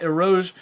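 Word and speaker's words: Eau Rouge: Make a mistake at Erouge and Radion, which I now know how to pronounce.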